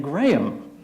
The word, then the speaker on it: Graham: The pastor's done his sermon and then more singing and then pastor Timothy gets up there and said, "Grame, I want you to come back up the front."